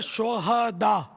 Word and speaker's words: شہداء: یہ صحیح تلفظ ہے شہداء، صحیح، ہاں پر زبر آئے گا، شہید کی جمع ہے شہداء، شہداء ہاں کو ساکن پڑھنا جو ہے نا یہ اس کے معنی بدل جاتے ہیں.